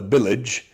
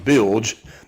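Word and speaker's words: bilge: The BGE is a pump or as old people call it the billagege, but it is pronounced BGE.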